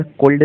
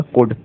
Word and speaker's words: could: she could, COULD, could यहाँ पर कोल्ड नहीं पढ़ना है ना, COULD, कोल्ड। बहुत सारे स्टूडेंट कोल्ड पढ़ देते हैं जो कि रॉन्ग है। इसका सही प्रोनाउंसिएशन होगा कोड, COULD, कोड।